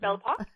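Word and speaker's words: Belle Époque: during the belle epoque how do you pronounce that word uh i think it's bellapop yeah devil park okay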